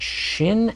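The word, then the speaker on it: שׁ: pronounce the sound but shin and sin are different Shin with a DOT at the upper right of the letter is sh and sin with a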